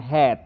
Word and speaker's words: head: nomor WA ne hath ya bacanya head bukan hate ya head member2 Oke bacanya search